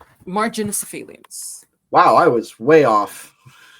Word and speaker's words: Marginocephalians: I'm curious if anything like that carries over to Pachycephalosaurus, other macronephosauri. Think I pronounced that right? Marginocephalians.